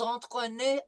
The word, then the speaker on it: entraîner: So the first one is nous allons nous entraîner à. nous allons nous Antoine, Okay, remember en is en. Entraîner through the nose, not en.